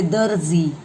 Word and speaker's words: दर्जी: ज से भी पहले र आता है, मतलब द और ज के बीच में हमें र का उच्चारण करना पड़ता है।